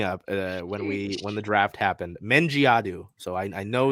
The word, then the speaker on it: Mendjiadeu: We got the pronunciation guide. Dulcy Fankam Mendjiadeu. Say it with me. Dulcy Fankam. Like F-A-N come C-O-M-E. Mendjiadeu. That last name really messed me up when the draft happened. Mendjiadeu.